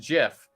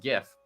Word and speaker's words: GIF: to that is hey the creator of Star Wars can say that Han didn't shoot first it doesn't really matter what the Creator says and it's pronounced gif so other than the